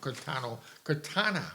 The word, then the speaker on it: Quintana: And if you have, I always say his name wrong, Quintana, right? Quintana. Correct. Yeah, there you go.